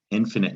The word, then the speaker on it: infinite: sight it's the opposite infinite you also don't the silent e doesn't work on that i at the end it's a short i sound infinite so you might